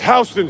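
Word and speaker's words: Houston Street: Next is Hston Street. Spelled like Houston.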